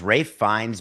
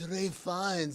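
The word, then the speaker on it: Ralph Fiennes: was thinking Voldemort maybe the only thing he's been bad at is pronouncing his own name it's Ralph you can't like mystify us like oo it's R fines this great it's Ralph Ralph find not American I mean doesn't matter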